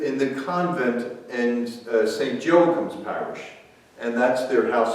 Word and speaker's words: Joachim: the convent and saint joachim's parish and that's their house of formation or people in philadelphia say joachim instead of joachim it's saying joachim like academy yeah yeah we turn